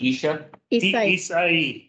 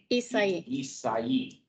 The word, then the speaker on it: Isai: As we move forward, we go into the fiscal year 22-23 expense and revenue summary with, is it pronounced Isha? Isai. Okay, thank you.